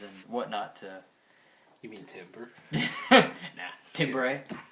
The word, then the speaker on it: timbre: You mean timbre? Nah. Timbre. Timbre is how you pronounce it.